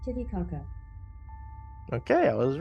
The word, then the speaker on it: Titicaca: how this is actually pronounced pronunciation how do you say it let me hear the audio hey like Titicaca okay I was right I was right to